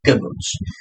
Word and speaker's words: kibbutz: The pronunciation of this word is known as a kibbutz.